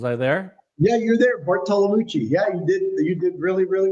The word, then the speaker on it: Bartolomucci: But I'm going to say Bartolomucci.